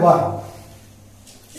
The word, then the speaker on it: were: आपको एक चीज यहाँ पर समझना है, जो WERE है, जिसको हम वर बोल रहे हैं, उसको बहुत से लोग गलत प्रोनाउंसिएशन करते हैं, उसको वेयर पढ़ते हैं, जबकि इसका प्रोनाउंसिएशन होता है वर।